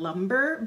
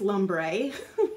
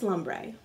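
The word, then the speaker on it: Lumbre: Decay Naked heat palette everyone calls this color in lumber but I'm sorry this is Lum Bray and I pronounce things really wrong but that's lombre because it's re not ER and so I think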